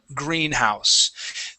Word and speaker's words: greenhouse: side are compound words Greenhouse the the first word usually receives the stress okay and that happens